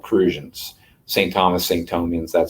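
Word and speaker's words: Crucian: on the island of saint croix they're called cruisians saint thomas sancho means that sort of thing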